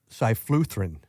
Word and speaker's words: cyfluthrin: The active ingredient on it is called cyfluthrin.